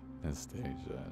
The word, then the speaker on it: Nastasia: Nastasia, Nastasia. You said it right the first time.